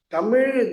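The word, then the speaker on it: தமிழ்: So I consider when I am given an opportunity to talk about Tamil Tamil the way in which I pronounce it is that three alphabets me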